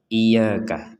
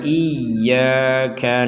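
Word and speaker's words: إياك: iyaka sekali lagi iyaka jangan sampai dibaca sekedar iyaka iyaka Kalau cuman iyaka Berarti tidak ada tanda tasdidnya iyaka na'budu wa iyyaka nasta ini juga sama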